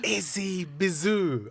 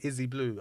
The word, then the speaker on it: Izzy Bizu: this morning Izzy bizo Izzy bizoo I love it I love that name thank you I love it and you know all the time I've been pronouncing it wrong I've been saying Izzy blue I don't know why